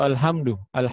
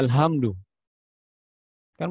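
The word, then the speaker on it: الحمد لله: cuma makin tertulis disitu alhamdu lillah hamdu kan Tapi kita bacanya Salah al-hamdu lele bahaya al-hamdu lele pujian bagi Allah Alhamdulillah hal-hal akan kehancuran kamu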